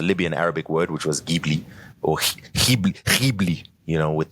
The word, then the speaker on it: Ghibli: I've updated my pronunciation to Ghibli. Quick side note, Phil, I did a little bit of research on how to pronounce this. Allow me to cook a little bit. It's Ghibli, isn't it? No. So, your giblets.